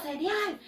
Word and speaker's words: cereal: En inglés se escribe igual, se escribe igualito. Sí, chicos, se escribe igualito, pero se pronuncia diferente. ¿Cómo se pronuncia, Miss? Ah, se dice cereal.